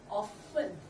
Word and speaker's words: often: often F 발음이에요. open 하면 안 돼요. open. 그럼 잘못하다 open 소리가 나와서 P 발음 나면 안 돼요. often. 위에 이가 밑에 입술을 살짝 건드려서 토끼처럼. 그렇지만 뭉케하지 말고 아주 살짝 입이 움직이면 안 돼요. 많이 살짝 often 이렇게 often.